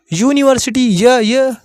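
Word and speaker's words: university: अब भैया पहला अक्षर यहां भी तो यू है, यहां पे दिख रहा है, लेकिन इसका प्रोनाउंसिएशन क्या हो रहा है हिंदी में? यूनिवर्सिटी। ये आ रहा है। ये क्या है? ये कॉन्सोनेंट्स है आपका। क्या है? ये आपका कॉन्सोनेंट्स है।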